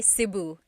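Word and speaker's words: Cebu: it seu or SIU so technically in the talog alphab the letter e can be pronounced e or E like the letter I so I say SIU SIU and I know some people say seu but usually it's either SIU or sebu good question all right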